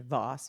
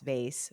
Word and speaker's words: vase: they V vosses vases what is the right pronunciation Voss vase what I don't know I say vase but I think plenty of people say Voss too I guess depending of where you're from how you're going to pronounce it so explain to us